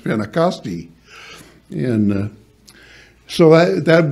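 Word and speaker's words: Πεντηκοστή: end of it and in Greek it's uh pronounced spinnacostia and uh so I that word doesn't appear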